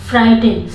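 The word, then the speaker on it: frighten: फ्राइटन, फ्राइटन में मैंने बताया है कि आपको अगर टी के पहले जी एच आया हो तो वो हमेशा साइलेंट रहता है।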